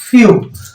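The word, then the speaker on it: few: जहां पे डब्लू आ वर्ड में अगर कहीं ई डब्लू आए तो हम उसे यू पढ़ेंगे और इसी ई डब्लू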